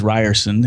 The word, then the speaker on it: Rierson: Yeah, I'm easy to find if you Google Ryerson and it's R I E R S O N. It looks like it's pronounced Ears, but it is Ryerson.